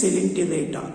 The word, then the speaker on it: Coelenterata: Now, the today topic is general characters of phylum Coelenterata Cnidaria. Coelenterata. Spelling చూడండి ఒకసారి COELENTERAT. ఓ silent అవుతుంది. ఓ right. Not Coelenterata. Not Coelenterata. O silent. That is Coelenterata, which is also called as Cnidaria.